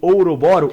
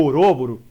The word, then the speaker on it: Ouroboros: Tanto que o símbolo do eterno retorno do Nietzsche é o Ouroboro, ou Ouroboro, tanto faz, o Ouroboros. Aí a pronúncia é com cada um.